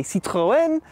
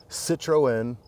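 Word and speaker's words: Citroën: around the Citron DS or do you say Citroen we'll talk to the owner behind this car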